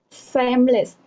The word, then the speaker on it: seamless: No, I mean seamless. Seamless. Semblance. How do you pronounce it?